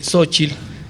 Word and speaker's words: Xóchitl: es doble c verdad y en el caso de xóchitl es la sh inglesa vamos a decir entonces